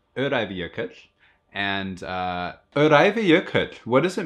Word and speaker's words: Öræfajökull: It's pronounced Öræfajökull.